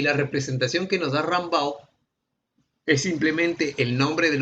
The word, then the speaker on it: Rumbaugh: Jordan y el otro se escribe Rumbaugh, pero se pronuncia como a Rambaugh, ¿ya?